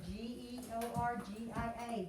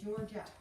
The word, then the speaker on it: Georgia: Number 10 starts with a G, E, like the word George does. And then I-A, so Georgia, Georgia. Both soft G sounds.